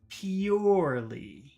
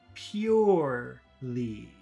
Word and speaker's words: purely: How do you say number one? Purely. E-E-U. Pew. Pew. Pure. E-E-U. Purely. Purely. Let's compare that to number two. Poorly. So that's po-war. War. So that middle sound is war.